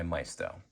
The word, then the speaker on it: Maisto: Cheyenne Super made by Mestto or Mesa depending on how you like to pronounce their name.